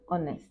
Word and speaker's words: honest: a hour but an hour because the H is silent okay and let's also look at the next example and honest again the same case the H is silence